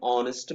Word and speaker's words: honest: it an r an honest man an honor an honorable person an honorary and air and early report all these words begin with a silent hedge that's why we use